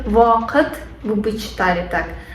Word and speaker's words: вакыт: У нас есть в вакыт. Вы бы читали так. А на татарском в читается как вакыт, вакыт. То есть в это как на английском тоже читается также вакыт.